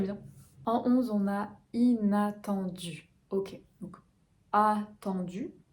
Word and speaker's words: inattendu: En 11, on a inattendu. Ok, donc attendu, attend, voyelle nasale, temps, du vers l'avant, attendu.